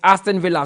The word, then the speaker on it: Aston Villa: Mutala, please tell Nanedu that the word is Aston Villa. So you should pronounce it like the English mention it, not like the Spanish.